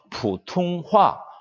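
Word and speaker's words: 普通话: 보통화를 중국 발음으로는 푸퉁화 이렇게 발음합니다.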